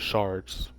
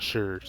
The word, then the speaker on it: shards: It is shards, not sherds. It is shards. Shards is the right way to say it, not sherds.